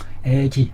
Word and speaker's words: 噫氣: 때는 시라고 발음이 나는데, 이것이 트림하다 할 때는 애로 발음이 난다고 사전에 장자라는 책에 이 애라는 애기라는 말이 나오는 것을 근거로 해서 음을 애로 읽는 것으로 나와 있네요. 애기, 항상 애기한다.